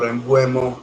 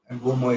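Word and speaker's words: Mbeumo: along with Mbumo or Mbuemo, whatever you want to pronounce. Mbumo is more from the area that is Ghanaian, I think, Ghanaian or Cameroonian. Um, that is more in keeping with the pronunciation.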